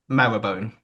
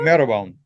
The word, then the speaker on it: Marylebone: Maryland, but marrowbone. Marrowbone? Marylebone.